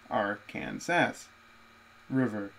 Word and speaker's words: Arkansas: south by a brown stretch of the Arkansas's pronounced Arkansas River on the north by a highway route 50